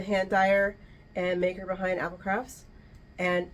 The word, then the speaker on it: APL Crafts: Dyer and maker behind Apple crafts and it's it's spelled APL crafts but it's pronounced Apple craft I thought I was